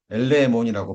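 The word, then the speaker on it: ἐλεήμων: 자 긍이라는이 단어는 자 엘레몬이라고 발음이 됩니다.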